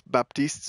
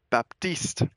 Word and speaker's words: Baptiste: and as well as Baptiste's voice actor has content has confirmed it is pronounced Baptiste be you pronounce that P in there BAP Baptiste Baptiste is a Haitian